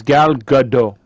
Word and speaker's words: Gal Gadot: i know i think i believe i'm remembering gal is the right correct pronunciation because i heard ryan say it in a press conference so i'm going to i'm going to go with what ryan reynolds says is gal gadot gal